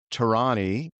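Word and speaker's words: Torani: Her company works with some of the top consumer and technology brands in the country, including Visa, Intuit, Tarani.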